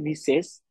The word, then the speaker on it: Mrs: যে ভদ্রমহিলা ম্যারিড, সব তখন লিখবেন মিসেস, আপনি প্রোনাউন্সিয়েট করবেন মিসেস, বাট লিখবেন MR.MRS. এটা লিখবেন আপনি, বাট প্রোনাউন্সিয়েশন আপনার করতে হবে মিসেস, এবং সেটা ওই মহিলার,